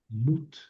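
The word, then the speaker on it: מוּת: Es una va con un puntito. Es una shurik. Es el verbo mut.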